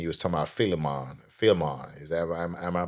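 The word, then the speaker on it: Philemon: Filon is am I pronouncing that right? Fimon Filimon.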